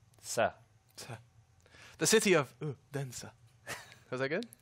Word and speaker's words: Odense: He told me how to say it. So it's O-H. Oh. It's more like a ooh. And then Den, D-E-N. Yeah. But you say it more like then. Oden. Ooh. Uden.